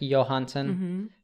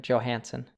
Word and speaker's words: Johansson: So it would be like Johansson, but we pronounce the J, like an American Johansson.